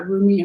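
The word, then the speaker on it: Rumi: off by saying that roomie or remy depending on how you pronounce it is a 13th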